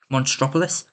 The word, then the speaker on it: Monstropolis: So despite the fact that Muppets 3D is being torn down and the Muppet Land for Monropos, Monstropolis, that's how you say it, which I will discuss in a minute cuz there's some updates on top of that.